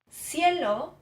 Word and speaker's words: cielo: So for example, cielo would be a Latin American pronunciation.